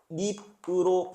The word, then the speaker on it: 깻잎: 깨 플러스 잎인데요. 깻잎으로 발음하거든요.